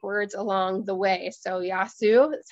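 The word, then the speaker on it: Γεια σου: So Yasu is how you say hi in Greek.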